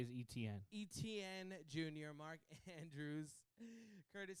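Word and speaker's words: Etienne: gonna put it on the side t n pronounce it literally put e TN and all you have to say is etn etn junor Mark Andrews Curtis Samuel San Francisco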